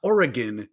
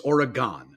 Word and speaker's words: Oregon: uh get over yourself it's an O okay it's not an I it's not an e it's not an oddly pronounced a it's not Oregon it's origon I don't PR pronounce